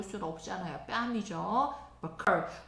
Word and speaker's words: buccal: 버컬. 부엌에 있는 칼. 버컬.